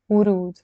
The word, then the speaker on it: ورود: ورود.